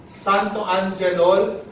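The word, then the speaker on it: xanthoangelol: 5 syllables tayo, okay? Santo. Follow me. Repeat after me. Santo. Anje. Lol.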